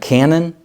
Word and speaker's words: canon: Sometimes you might hear the term the New Testament canon, not the gun, shooting a cannonball, but it's spelled a bit differently, but it's pronounced the same, canon.